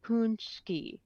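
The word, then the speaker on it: pączki: So it's like punchki, Punchki. pu- Punchki.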